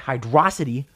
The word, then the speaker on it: Hydrocity: a longshot hydrocity yes I pronounce it hydrocity not hydrocity it's hide raza t it even beats out